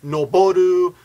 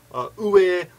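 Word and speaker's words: 上: This kanji can be pronounced, I think I counted once, like 12 different ways. It depends on the situation. It could be noboru, ue, uwa, jo, What else? Agaru, ageru. Got me on the spot here. I don't remember the other ones, but there's a whole bunch of different pronunciations depending on the combination of letters.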